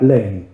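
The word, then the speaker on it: Lane: de Hacienda al prestigioso economista Felipe Herrera Lein, así se pronuncia, quien no aceptó conducir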